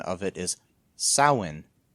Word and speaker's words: Samhain: The standard Irish pronunciation of it is Samhain. There's no M pronouncing it.